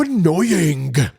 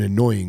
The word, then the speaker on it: annoying: I said, excuse me, do you know that you don't have to pronounce the G in annoying, right? It's just annoying. You don't have to say annoying. Please don't pronounce the G in your words.